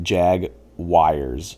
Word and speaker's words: Jaguars: Yeah, so you say Jaguars, like it's like Jag Wires, like that's kind of how you pronounce it. Oh, Jaguar, But like they say Jaguars, Jaguars, Jaggers, Jaguars.